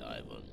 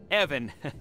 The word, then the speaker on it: Ivan: today so ask away Ivan uh Evan it's it's pronounced Evan with a short gutural I wanted to ask